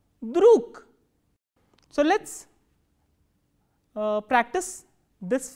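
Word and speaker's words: друг: G is again a voiced consonant. So, this voiced consonant will be pronounced as k, druk.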